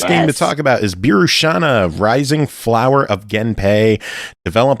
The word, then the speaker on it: Birushana: Brooke, tell us about Birushana.